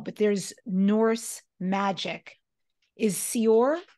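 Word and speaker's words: seiðr: Is Sior how you say it? Seether.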